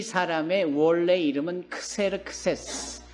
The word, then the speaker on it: 크세르크세스: 그런데 이 사람의 원래 이름은 크세르크세스. 발음을 하면 이렇게 되는 거예요.